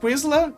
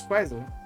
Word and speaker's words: Chrysler: Uh, wait, is that how you say Quizler? Did I say it wrong? I don't want to say wrong. Qua Chryler. Chrysler. Yeah, I said it right. It is Chrysler.